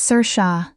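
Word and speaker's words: Saoirse: Most people can't pronounce it the first time. It's Sir Sha, Irish, my grandmother's name, before mine.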